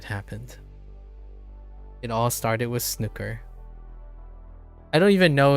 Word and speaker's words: snooker: That's how it's pronounced in England as well. Okay. Snooker. Okay. Like rook. Rook. Nook. Or is it Snoo or like oud in food?